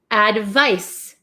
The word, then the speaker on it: advice: this one this is advice advice advice so this makes like an S Sound Advice advice so you